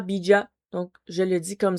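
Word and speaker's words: bija: Euh le bid, ça s'écrit B I J A, mais j'ai vérifié la prononciation, ça ça disait vraiment bid.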